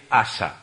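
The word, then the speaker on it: Asa: que vamos a ver es asã se escribe como suena sin h asã luego tendríamos para completar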